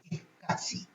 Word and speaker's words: SCSI: Y la SCSI, esa palabra se pronuncia SCSI.